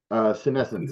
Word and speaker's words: Senescence: called, let me see if I pronounce it right, Senescence. Senescence, yeah.